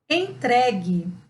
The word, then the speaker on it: entregue: Entregue. Reparem também que o U não tem som, por isso essa palavra foi marcada.